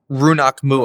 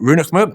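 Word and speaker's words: rionnach maoim: Runach Muam. Oh, Runach Muam. And you pronounced it pretty well.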